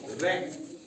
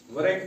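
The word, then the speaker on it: wreck: एच र ठीक है डब्ल्यू आर ई सी के रेक वक नहीं पढ़ते ऐसे ही है रिंग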